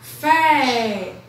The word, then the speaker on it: café: uma sílaba mais forte tá café a sílaba mais forte seu pé certo eu não só